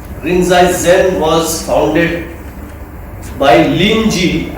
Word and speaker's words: Linji: Rinzai Zen was founded by Linji. I think Linji is pronounced as Rinzi, or rather Rinzi is pronounced Linji.